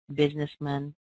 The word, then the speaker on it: businessman: firemen what happened was the a in here is no longer in a stressed syllable so what we've done is we go through and we almost kick them out and when we kick them out of a syllable the sound gets replaced with this little uh sound what we call a schah uh uh so here's what